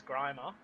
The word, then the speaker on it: Grimer: I know it's not grimmer, but it is Grimer.